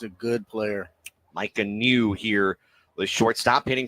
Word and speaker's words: Niu: for five got okay his last name is spelled NIU we're in Hawaii yeah I know but they say it's new well because that's the